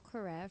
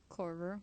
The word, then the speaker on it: Korver: My last and final pick is going to be Kyle Corrett from Atlanta. Who? Kyle Korver? Corver, thank you. I knew I said his name wrong.